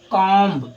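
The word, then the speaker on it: comb: वैसे अगर इसको हम कॉम्ब लिख देते हैं तो ये आपका बिल्कुल भी गलत होगा। बिल्कुल भी गलत होगा। ठीक है? बात समझ में आ रही है? आपका जो सही होगा वो है वो है आपका काम।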